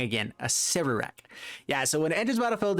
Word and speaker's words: Acererak: Acererak. I said it wrong again. Acererak.